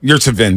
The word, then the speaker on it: Yurtseven: So the guy for the Miami Heat that we watched in summer league, Yurtseven, is that how you pronounce it? Yurtseven, yeah.